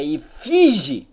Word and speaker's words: efígie: Se pronuncia efígie, seu animal.